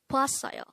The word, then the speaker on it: 봤어요: Because today, on One Korean Word a Day here at Dae-Hangul, we are going to discuss about the word 봤어요.